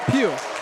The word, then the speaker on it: Pugh: Pugh. Like Justin Pugh, though.